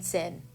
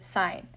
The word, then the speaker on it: sine: somebody call sign sin it is not sin Theta do not say that that feels like nails on a chalkboard for me it is sine is not cos Theta no cosine say it correctly sine cosine and tangent okay but once we